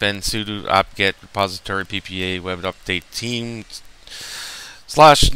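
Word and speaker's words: WebUpd8: It's web update, but it's spelt web up web and then UDP UPD8, sorry.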